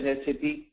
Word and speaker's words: SAP: sap first of all it's pronounced as SCP and um SAP stand